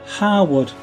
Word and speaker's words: Harewood: There's a word Harewwood, which is Harewood, and the place is called Harewood, but the fellow who owns Harewood is his name is a lord, and he's Lord Harwood. It's spelled exactly the same, but Hare Wood. He is Harwood. The place is Harewood, and you have to be a local to know that. O.